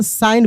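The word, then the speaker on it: sign: जी साइलेंट है। एस आई जी एन है ना? तो साइन पढ़ेंगे।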